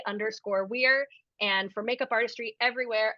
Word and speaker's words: Were: but plug them again yes so my name is spelled last name is Weir w-e-r-e you can find my performance Instagram underscore Weir and for makeup Artistry everywhere I am at